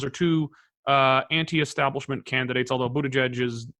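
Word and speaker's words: Buttigieg: are virtually tied are Buddha judge can you say his name properly a judge who to judge you be the judge you good yes you booed the judge and and and Bernie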